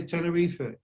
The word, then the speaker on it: Tenerife: but then you know if you if you're portuguese or spanish you say tenerife um also which i